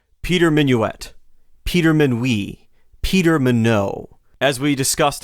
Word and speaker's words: Minuit: And so Minuit is probably how the Germans feebly tried to pronounce his last name. So for most of his life, people around him probably said Minuit.